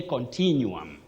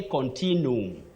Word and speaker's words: continuum: Edwin Waweru of Ruaka, you say continuum, continuum. Don't say continuum, continuum. Just like you say vacuum, vacuum or vacuum.